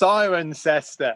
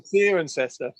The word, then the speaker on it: Cirencester: It's Cirencester. Cirencester. How am I supposed to Oh, we're losing you, Mark.